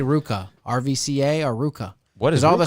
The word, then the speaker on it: RVCA: I know you would how to pronounce RVCA Ruka isn't that weird how you pronounce RVCA and how did